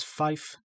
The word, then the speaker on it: five: four pronounced as flower, five pronounced as five, six pronounced as six, seven pronounced as seven.